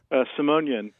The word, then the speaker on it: Simonian: uh oh there it is uh some simonyan wait did I say help me out here how do you say your last name uh simonian simonian you know I wrote it down thinking